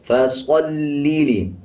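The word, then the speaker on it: فصل: फसल्लि, स्वाद को पुर पढ़ेंगे यानी मोटा पढ़ेंगे।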